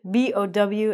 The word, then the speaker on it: bow: We don't respect people here, but bow means you bend at the waist. The other word is bow. Turbo.